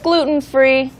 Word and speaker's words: gluten: Usually when we say the words that have the letter T, we usually don't say gluten. It's very like difficult to say. It's difficult, right? If you're talking fast.